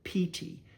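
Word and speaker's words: pīti: You'll hear in py the word pt. It's spelled pi ti but it's a long i sound.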